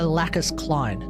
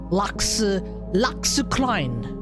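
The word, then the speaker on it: Lacus Clyne: I am using the Japanese pronunciation too, by the way. Because I refuse to call her Lacus Klein. No, it's not happening. Lux Klein. Lux Klein, yes.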